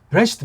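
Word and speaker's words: בראשית: 브레시트 바라 엘로임, 에타 샤멘 베타레 이렇게 나가는데 이걸 어떻게 발음하겠냐고. 지금 여기 발음하라고 인간들끼리 정해놓은 거예요. 이걸 부라고 한다. 부라고 제대로 하는 사람 1%도 안 돼요. 뭐 으라고 해야죠.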